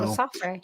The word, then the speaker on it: Lesaffre: The cast includes Théo, Christine, Sofia, Lesaffre. No. Lesaffre, yeah.